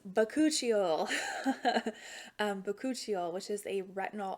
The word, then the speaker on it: Bakuchiol: I always mispronounce it, but it's Bakuchiol.